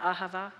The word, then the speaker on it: Ahava: Ahava and he said the way that you say it is you hold that last syllable that lasts a h as long as you can until you you look you don't have any more breath in you and it's to represent